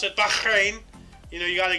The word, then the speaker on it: Bahrain: its Constitution and that's uh that's how you pronounce it Bahrain you know you got to get the Fleming